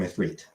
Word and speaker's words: Ifrit: when he's being introduced, villain calls him Ifrit. And so they do pronounce it correctly.